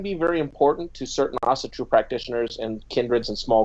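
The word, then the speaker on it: Ásatrú: Yeah, I say Asatru because I'm American. The technical pronunciation would be Asatru. Gotcha. But that's if you're European, and you're using a European accent, and I'm American, and we obviously don't know how to talk correctly.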